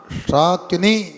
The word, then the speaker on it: शाकिनी: बोलो साकिनी नहीं पढ़ना, शाकिनी साकिनी।